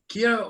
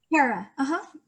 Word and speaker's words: Kara: It is, let me get it right. Kira or Kara? Kara, you got Kara.